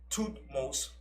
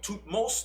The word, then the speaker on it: Thutmose: And when she found him, she named him after her father, Thutmose the first. And Thutmose is spelled T-H-U-T-M-O-S-E.